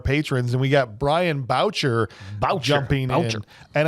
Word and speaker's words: Boucher: And we got Brian Boucher jumping in. And it's spelled like Boucher, like Bobby Boucher from The Waterboy, but he told me, he's like, it's like voucher.